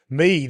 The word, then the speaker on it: Meade: Meade, is that how you pronounce it? That's Meade. it.